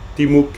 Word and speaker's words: Timuk: Attention, on parle vraiment de Timuk. Timuk, hein, c'est pas, là je sais pas trop comment tu l'as prononcé, mais ça me rappelait pas Timuk.